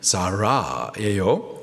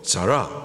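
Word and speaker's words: זָרָה: 여기 다른 향에 대해서 히브리식 발음으로 말하면은 자라예요. 자라.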